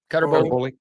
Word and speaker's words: Cutter Boley: The quarterback for Kentucky, how do you pronounce that? Is it Cutter Boley? Yep. Boley? Cutter Boley.